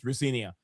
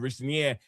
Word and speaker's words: Rosenior: he also he said his dad said it's the right pronunciation of his name is Rinia. So yeah, we all gonna instead of Richer as I headed from some other places to be fair,